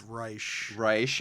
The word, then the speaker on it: Reich: we have with us reich pleasure to be here um it's reisch i'm sorry i'm sorry